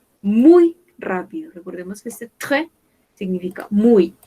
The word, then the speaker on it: très: Ici, on a lente, lente, rapide, très rapide, muy rápido. Recordemos que este très significa muy. Acá no pronunciamos la S. Ahí. On ne prononce pas le S.